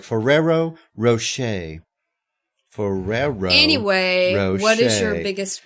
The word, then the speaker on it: Ferrero Rocher: was that I'm sorry fero Rocher oh okay Ferrero Rocher Ferrero Ro I can't hear it well it's